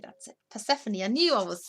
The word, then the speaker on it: Persephone: Persephone, that's it. Persephone.